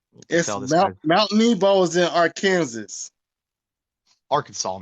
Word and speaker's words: Arkansas: Nebo is in Arkansas Arkansas man say it right right they get pissed off if you say our Kansas ladies hear about the